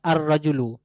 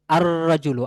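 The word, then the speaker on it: الرجل: এইযে আলিফ লাম আমি আর রাজুলু। তারপর আল কিতাবু উচ্চারণ কিন্তু দুই রকম হচ্ছে। আর রাজুলু আর রাজুলু আশশামসু আল কামারু। এইযে কখনো লামটা উচ্চারণে আসতেছে কখনো আসছে না।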